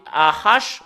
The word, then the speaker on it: ה: Le fait de prononcer le He, c'est AH ou A.